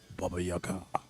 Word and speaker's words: Baba Yaga: Baba Yaga.